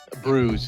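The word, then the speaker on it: brewis: Bruise is the way the news pronounce it.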